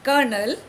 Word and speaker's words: colonel: It is pronounced colonel, but it is spelled very differently.